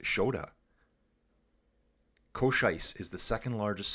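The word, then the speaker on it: Škoda: So Skoda is not Skoda, it's Shoda? Changes the sound to sh. Why? So, yeah, that's weird to me. So why have a K there then? How do you say the K in Skoda? So it's Shkoda? Shkoda? Or just Shoda.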